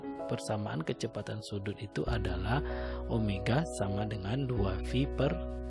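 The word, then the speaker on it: ω: Saran yang ketiga yaitu tentang kecepatan sudut atau kecepatan anguler yang simbolnya adalah itu seperti W tapi bacanya adalah omega.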